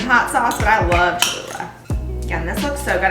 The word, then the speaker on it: Cholula: teaspoon of cumin and i love cholula cholula is how you say it cholula i'm just